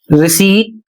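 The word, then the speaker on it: receipt: ये तीनों शब्द रिसीट, कोर, कू, ये तीनों शब्द फ्रेंच से आए हुए हैं, इसलिए इसमें पी साइलेंट है इन सभी में, चाहे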